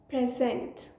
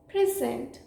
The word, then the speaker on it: present: 11th word is this the first pronunciation for this one is present which means a gift the second pronunciation for this word is present which means the act of presenting or to introduce example he decided to Pres